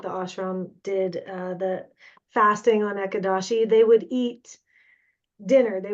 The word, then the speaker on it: Ekadashi: Has anyone here honored Ekadashi? Is that how you say it? Ekadashi.